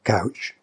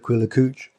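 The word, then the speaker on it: Quiller-Couch: fan of south aquila couch and he said oh yes he said quiller cooch i've been pronouncing it with a couch well as anyone who's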